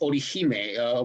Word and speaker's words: Orihime: Yeah, it's actually pronounced Orihime, which is Japanese.